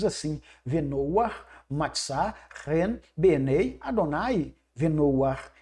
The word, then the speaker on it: Adonai: forma o nome Adonai, que se pronuncia o nome do Eterno desta forma. Adonai, que vem da raiz da palavra Adon, Adon, Senhor, Adonai, meu Senhor.